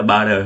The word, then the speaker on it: butter: Chữ T này đọc chữ giọng Mỹ là butter ha.